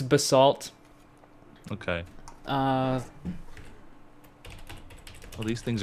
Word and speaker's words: basalt: Bas salt or Bas how do you say it by the way bath salt bath salt yeah did you see um it's it's Basalt okay uh oh these